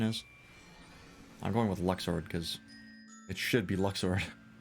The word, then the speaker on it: Luxord: Luxor, is that you? Or Lushard, however the fuck it's actually supposed to be pronounced. Whatever its stupid pronunciation is. I'm going with Luxord, because it should be Luxord.